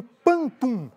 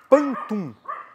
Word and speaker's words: pantum: E agora sim, apresentando o nosso tema da nossa edição número 120, nós vamos falar sobre o pantum.